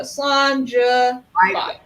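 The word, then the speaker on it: Slàinte: So John de la Cuisine has somewhat kind of a phonetic pronunciation of it. So Slanja.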